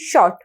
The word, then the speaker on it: short: एस ह ओ टी शॉट इसमें आर जो है हम लोग नहीं इसको प्रोनाउंस कर रहे हैं वो साइलेंट है लेकिन उसकी स्पेलिंग क्या